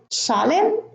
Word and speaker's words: solemn: Now in the second column, I have autumn, column, condemn, dam, solemn, hymn, and government. Now, the N here is silent in all of those words, and in the first